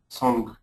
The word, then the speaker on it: song: question about son pronunciation how pronounce it right son or song s g yeah song yeah leave the leave that hanging G song song it's an aw Sound song I like that